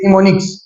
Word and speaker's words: mnemonics: एन ई एम ओ एन आई सी एस निमोनिक्स अगर आप उसी तरीके से चलेंगे जिस तरीके